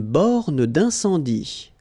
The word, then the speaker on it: borne d'incendie: Une borne d'incendie. Okay, final here not pronounced, final here not pronounced. Une borne d'incendie. And then you get the nasal. Un, en, incendie. Une borne d'incendie.